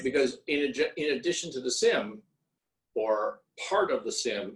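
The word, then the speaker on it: CIM: The M&A process, you just described a full SIM, confidential information memorandum, which for the life of me, I don't know why that's a soft C to come up with a SIM, but that's what it is.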